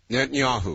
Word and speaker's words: Netanyahu: answer that Benjamin Yehantata, I'm not still can't pronounce his name. Could you give it to me? Netanyahu.